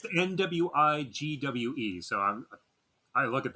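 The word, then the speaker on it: Nwigwe: song Sanctified with uh Toby we wegue uh who that's how we say okay yeah I looked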